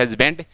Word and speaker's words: husband: बोल जैसे मान लीजिए सही उच्चारण इसका हस्बैंड बोलते हैं हस्बैंड, और वास्तव में बैंड ही बच जाता है ये पूरा पढ़ने के बाद में।